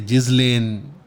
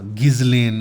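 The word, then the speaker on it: Ghislaine: वहाँ इसका तारुफ होता है गिलेन मैक्सवेल के साथ, या जिज़लेन या गिज़लेन, इसके 3-4 तरीके से नाम प्रोनाउंस होते हैं।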